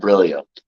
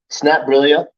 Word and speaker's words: Snapbrillia: the base platform of snap brilla it's not brillio it's not brilla it's not brillia it's not brillia like like okay all right it's not phonetically how it said but I I snap brillia I can say that